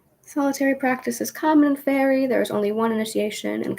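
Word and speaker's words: Feri: in this one is called the fairy tradition here it's spelled f-e-r-i but it has also been called fairy as we as in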